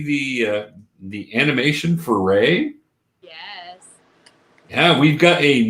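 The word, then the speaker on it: Rei: no like i think it's ray r-r-e-i is ray okay how do you say the last name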